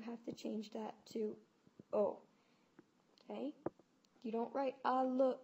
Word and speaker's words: au: would be o and that is pronounced just like the letter o l m n o